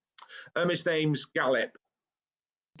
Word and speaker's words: Galip: His name's Galip. If Gallup?